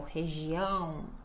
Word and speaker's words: região: Então, região, região. Lembrando que não é região, a gente não pode diminuir o final da sílaba. A ênfase vai ser sempre no ão, tá?